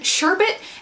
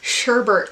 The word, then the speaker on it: sherbet: over myself but it between sherbet and salmon which I've heard pronounced Salman that just like grates on my nerves for some odd reason because like in the grand scheme of things it does not matter how people pronounce things however sherbert like makes my shoulders like just like go up to my ears and yes I know that like it's a pre common pronunciation and I should get over